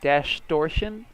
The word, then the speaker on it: Dashtortion: we are covering dash dash torsion is so hard to pronounce its distortion but with dash so London is great